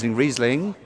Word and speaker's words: Riesling: It struck a chord, and I thought that was good because, apart from the fact you couldn't pronounce Riesling, but you can now. Riesling.